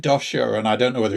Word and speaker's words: Doscher: ask you about yours because i i said dosha and i don't know whether you said it